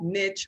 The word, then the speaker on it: niche: So it can be pronounced both niche or Okay. niche.